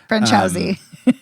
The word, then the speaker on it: Franciosi: I can't pronounce her last name. It's very Italian. Franciosi.